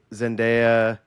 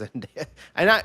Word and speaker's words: Zendaya: credits, and I'm like, is it Zendaya or Zendaya? I feel like I said Zendaya forever. I think it's Zendaya. Yeah, I think I've heard people say her name like that. Yeah, before. I believe that is correct. That it is Zendaya.